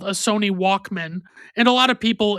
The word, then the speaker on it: Walkman: something called a Sony Walkman. And a lot of people, in my opinion, over pronounced Walkman as Walkman. But in my personal opinion, it should be pronounced more like it's a last name.